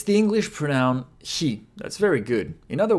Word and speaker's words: へ: He is pronounced like he in help or Helen.